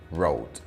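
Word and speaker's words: wrote: lost del verbo escribir es un verbo irregular cuyo pasado se pronuncia road el material de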